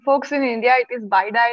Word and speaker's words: bidi: indian name for cigarette uh and it also is spelled as bidi so yeah it's baidai folks all right so this with this we